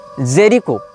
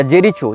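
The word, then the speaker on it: Jericho: हो या फलस्तीन हो इसने जेरिको या जेरीचो जो भी इसका उच्चारण भाषा में किया जाता है जे आर आई सी एच ओ जेरीचो या जेरिको जहां तक जेरिको होना चाहिए उच्चारण यह फलस्तीन का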